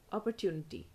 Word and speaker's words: opportunity: will be pronounced as opportunity opportunity the TU part is pronounced as tunity opportunity British by and